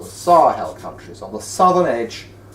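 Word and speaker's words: Sahel: Desert and those are called the sarhal countries which is spelled s a h e l SAR hell countries on the southern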